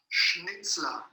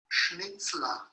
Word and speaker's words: Schnitzler: Tengo aquí mi móvil y él esta mañana me ha enviado para que lo pronunciara bien. Y os lo voy a poner, ojalá se pueda escuchar en medio mundo. Schnitzler. Schnitzler. Schnitzler. Christoph Schnitzler.